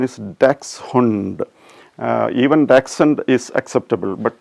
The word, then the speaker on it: Dachshund: So when I say Dachshund, probably it may not sound very familiar to you. So at the same time, if I say dachshund, everybody will understand the word. Usually we say dachshund, dash, etc.